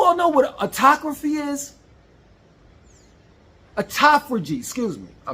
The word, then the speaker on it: autophagy: Autophagy, excuse me, I mispronounced it.